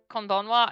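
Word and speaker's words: こんばんは: Just like konnichiwa, konbanwa has the same thing where it's actually ha at the end and not wa, but it's pronounced wa.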